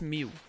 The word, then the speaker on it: Mew: is it is it Mew no no moo is an M it's not moo it's Mew no it's not it's Mew